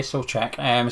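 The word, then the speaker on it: Souček: That's how you pronounce his name, apparently, Solček.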